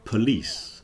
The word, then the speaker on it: police: are polish and then you have the word police yeah police so Polish Polish police this is